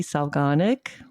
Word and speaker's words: Solganik: on Fodder School, Wendy Solganik. I said that right, Wendy, right? Organic. Organic. Organic. Just like it's spelled.